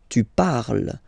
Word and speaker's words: tu parles: Then for tu, you will have to put es, okay? Phonetically, tu parles. So you've got the two first forms, you pronounce them the same way. You write them differently, of course, because you've got here, and then you've got and s, okay? But then phonetically, they are the same.